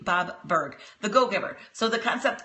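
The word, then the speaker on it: Burg: right so Bob b u r g Bob berg the go-giver so the concept of that book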